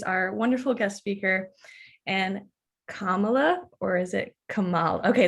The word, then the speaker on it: Kamala: I am going to introduce our wonderful guest speaker, and Kamala, or is it Kamal? Okay, is it Kamala?